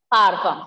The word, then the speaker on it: parfum: Then, parfum. So, perfume is pronounced as parfum.